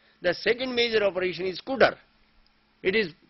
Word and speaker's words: cdr: The second major operation is CUDR. It is pronounced, though it is written as CDR, it is pronounced as CUDR.